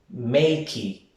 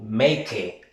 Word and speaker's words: make: Si notas A, make, la S no suena. Make. No decimos makey o make, sino make.